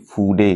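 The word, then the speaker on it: 筆: है उसको बोलते हैं फूडे निब। फूडे, FUDE, फ्यूड नहीं प्रोनाउंस करते, फूडे प्रोनाउंस करते।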